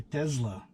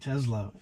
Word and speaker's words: Tesla: Or should I say Tesla, because that's how Elon Musk pronounces it. I think he's the only one who calls it Tesla and everybody else calls it Tesla.